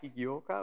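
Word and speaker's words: 起業家: So I kind of heard or learned that this is pronounced kigyoka or something like that. Yeah, kigyoka, okay.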